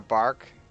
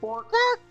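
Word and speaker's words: Bwark: It's like a bark. It's spelled Oh. B-W-A-R-K. Bark. Okay. Yeah. Bork.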